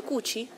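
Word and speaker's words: 口: bocca che sapete che in cinese Co e invece in in giapponese è cuci si dice cuci in giapponese bocca scitto di fianco senza non ha caratteri no S non ha Toni si legge cuci cuci va bene Qui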